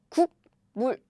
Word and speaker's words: 국물: So what happens is, this air blocking sound lost. It becomes a nasal sound.